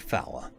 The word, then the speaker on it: four: A few brief chuckles arose when I said fower. It was one of the oldest jokes in the military, pronouncing the word four the exact way that the military phonetic manuals tell you to.